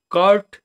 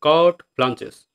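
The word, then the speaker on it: carte blanche: তো পরবর্তী ওয়ার্ড হচ্ছে কি কার্ট ব্লাঞ্চেস। দেখো কার্টে না কিন্তু উচ্চারণ হচ্ছে কার্ট ব্লাঞ্চেস, মানে সব কিছু করার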